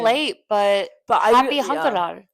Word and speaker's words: 한글날: It's That's right. pronounced 한글날. You're going to read it as Hangul plus 날. Yeah. 날 is It's the day part.